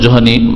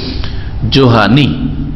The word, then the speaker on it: جهني: হ্যাঁ, জাহানি না বিকৃত করে আপনি একামাকে আকামা বলবেন, তো এটা তার ঠিক না। জোহানি শুদ্ধ উচ্চারণ হচ্ছে জোহানি, জোহাইনা বংশ, আর নিসবত করলে জোহানি। হ্যাঁ, জোহানি। একজন ইমাম, কাবা শরীফের ইমাম এখন, হ্যাঁ, শেখ আব্দুল্লাহ আওয়াদ, শেখ আব্দুল্লাহ আওয়াদ আল জোহানি। জি, জেহানি নয় আর জাহানি নয়, ওই দেশের